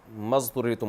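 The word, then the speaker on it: اضطررتم: मा अच्छा मज तुर तुम में अलिफ साइलेंट हो गया असल में था उतुर तुम तो अलिफ साइलेंट हो गया हमजा वसली है तो मजुर तुम हो गया व इन कन और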